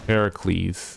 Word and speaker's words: Heracles: her Heracles oh Heracles Heracles is how it's pronounced oh yeah I don't